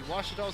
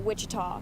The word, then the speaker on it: Ouachita: 17-25 so aum takes a one-set lead over ouachita we'll take a couple minute break and we'll be back here for set number two watchtower's gonna have to bounce back you're watching the ouachita sports digital network uh i've heard people say